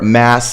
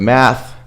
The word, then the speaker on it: math: Or mass and mat instead of math.